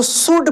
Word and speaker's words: should: जैसे यहाँ पे देखिए अराउंड, उंड, देखिए यहाँ पे देखिए अगर लिखा रहे SHOULD तो शुड पढ़ेंगे।